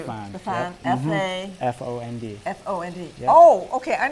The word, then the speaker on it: fond: F-O-N-D. F-O-N-D. Yep. Oh, okay. I know that word. I didn't know it's pronounced fond.